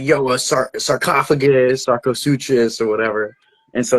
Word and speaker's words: Sarcosuchus: And obviously, kind of like Sarcosuchus.